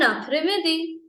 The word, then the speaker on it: après-midi: Okay, après, where s is silent, e is silent, and midi, midday, bon après-midi, bon après-midi.